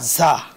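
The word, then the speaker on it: ز: রর পরে যা যা যা, হ্যাঁ যা শব্দটা আছে, উচ্চারণটা হলো যা। ধন্যবাদ। এটা জি মানে ঝ না আবার ঝ না, যা আরবি, এটা আরবির কোনো এটার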